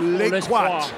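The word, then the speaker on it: Lescroart: Is it Les Croix? Les Croix.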